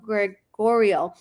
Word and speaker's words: Gregorio: Um Georgio said, "I agree. Citrus Springs have cheaper prices." They do, Georgio. Uh Greg Gre Gregorio, excuse me, I was pronouncing your name wrong. Gregorio.